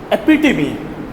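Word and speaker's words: epitome: आप इसके लिए एक वर्ड है इसको हम कैसे प्रोनाउंस करते हैं? एपिटमी।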